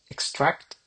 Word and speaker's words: extract: Extract ya. Ada-nya di belakang dikit.